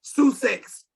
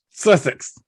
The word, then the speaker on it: Sussex: was the founder of susic's sushi records okay sue sex records sussex that's how you pronounce that yeah you've heard of it yes